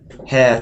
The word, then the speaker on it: hair: hair cut here here the hair is got to be more like air like chair Hair Chair air Fair hair she has